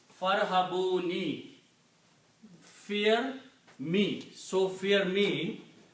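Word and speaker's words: فارهبون: And when you combine fa with the ra, you do not pronounce this alif. It becomes hamzatul wasl. So now your word is farhabuni.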